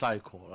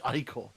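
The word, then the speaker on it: ichor: That's pronounced eyecore. I did I know I did it wrong the first time, but please please please he's saying it right there. Creature. It's eyeore.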